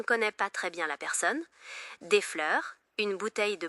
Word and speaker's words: personne: It's pronounced with a slightly more forward rolled R, and the N is not pronounced, so it's more like personne.